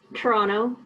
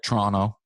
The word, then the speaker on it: Toronto: Toronto. Oh, the nice part. Accent. I've been here too long. No, you said it right, Toronto.